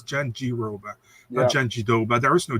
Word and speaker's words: Jandiroba: because it's not her name Jen Joba it's Jen G Roba it's Jen G Roba Joba there is no D you know I